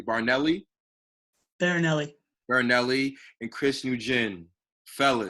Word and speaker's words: Barinelli: I have Thomas, let me say it correctly, Barinelli, and Chris Nguyen.